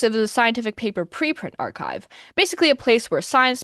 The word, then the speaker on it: arXiv: Also, it's technically pronounced archive, not arsive, because the ax is a Greek letter kai.